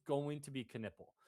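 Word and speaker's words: Knueppel: Knipple. That's really how you pronounce it?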